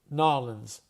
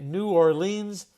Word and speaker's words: New Orleans: Now remember I have a Los Angeles accent so I say New Orleans and Louisiana it's Norans. So I say New Orleans. In Louisiana totally different accent.